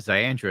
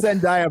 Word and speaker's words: Zendaya: Well, they have Ziandra as Mary Jane, and isn't that enough?